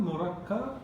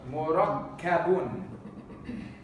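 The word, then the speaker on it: مركب: Murakkab. Murakkabun. Murakkab. Mim, ra, kaf, ba. With a shadda on the kaf. Murakkab. Murakkab. Okay, when the Arabs, when they stop on the word, they don't pronounce the tanween.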